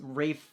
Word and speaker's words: Ralph: last time I mispronounced Rafe fin how was I supposed to know his name is pronounced like that his name is spelled like Ralph anyway the comic strip